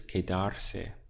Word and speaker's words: quedarse: This is quedarse. So we have que, dar, se, 3 syllables.